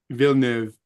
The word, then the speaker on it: Villeneuve: How do you pronounce it? Villeneuve.